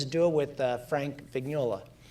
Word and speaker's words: Vignola: duo with uh frank vignola right vignola am i pronouncing it correct that's correct vignola yeah okay uh and they